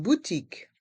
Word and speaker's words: boutique: Une boutique. Une boutique. Les lettres Q et U font le son que, comme la lettre K.